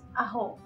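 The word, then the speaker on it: ajo: was at garlic no garlic was a hoe when I say aho it's a j o not a-h-o at home and lemon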